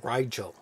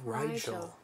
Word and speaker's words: Rigel: though it's very similar i've always heard it pronounced rigel oh yeah rigel rigel so be rigelands